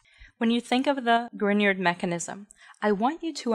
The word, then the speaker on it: Grignard: The Grignard reagent, pronounced Grignard, not Grignard, after Victor Grignard, who won a Nobel Prize